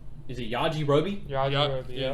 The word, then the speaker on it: Yajirobe: It's spelled. Is it Yajirobe? Yajirobe. Yeah, Yajirobe.